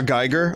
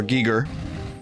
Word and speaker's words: Giger: face a different thing HR Giger I used to say until I realized the way he pronounced his name was HR Giger but like going outside